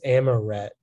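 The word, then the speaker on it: amourette: 78 hello all right uh your word is amarette amaranthmanta definition it means a brief or minor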